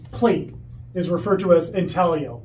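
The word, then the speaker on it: intaglio: is referred to as intalo it's spelled intalo but it's Italian and I'm Italian so it's italio um and it actually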